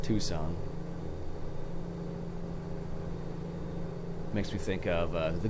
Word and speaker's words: Tucson: that way at all the C is silent I don't know maybe don't know maybe it's a I'm not sure at all actually I'm gonna wager a guess I'm assuming it's not pronounced at Tucket son and it's pronounced Tucson makes me think of